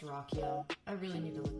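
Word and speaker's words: Ruocchio: I finished Empire Science last night, book one in the Sun Eater series by Christopher Ruo. It's pronounced Rockio.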